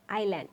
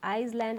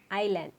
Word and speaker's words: island: So here we pronounce it as a island. It is not Iceland or Eastland, it is island.